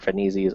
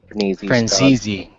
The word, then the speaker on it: Franzese: Franisi's own YouTube channel. It's just under his name, Robert Franisi. Franzese. Sorry. Spelled Franzese.